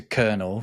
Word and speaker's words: colonel: I missed off was colonel because we talked about weird pronunciations and spellings the pronunciation of colonel comes from the French coronel which you can see